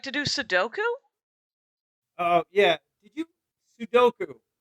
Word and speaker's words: Sudoku: Do you like to do Sudoku? Oh, yeah. Did you? Sudoku. So that's how. Sudoku, yeah. That's how I say it. The U's are on the both ends. Sudoku.